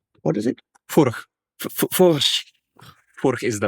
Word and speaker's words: Furch: Actually, Czech pronunciation is Furch. More rolled R and then CH.